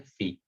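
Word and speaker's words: φ: इसको हम pronounce करते हैं phi, which is always measured in radians.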